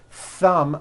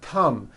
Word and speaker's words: thumb: So instead of saying a word like thumb, my thumb, which this is, and notice how my tongue is coming out, my thumb, you've been saying thumb, my thumb, or my thumb, and your tongue is not coming out. That is not correct.